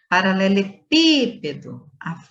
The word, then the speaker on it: paralelepípedo: Paralelepípedo, a sílaba tônica é o pi.